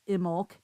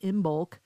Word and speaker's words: Imbolc: So, pronounced Imbolc, spelled Imbolc. Many people say Imbolc, but Imbolc stands at a midway point between winter solstice and vernal equinox.